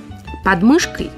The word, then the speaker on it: подмышкой: Подмышкой или подмышкой, как правильно? В русском языке существуют обе формы.